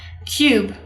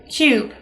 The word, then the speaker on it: cube: bear right it's a cube let's try this one and the e is silent right because it's at the end of the word we don't say that